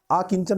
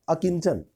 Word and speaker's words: अकिंचन: जिसके पास कुछ ना हो, अकिंचन, आकिंचन नहीं होगा, अकिंचन।